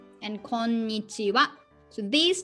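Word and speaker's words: こんにちは: For example, konbanwa and konnichiwa. So these 2 is also ha. We use ha, but pronunciation wa. Konbanwa, konnichiwa.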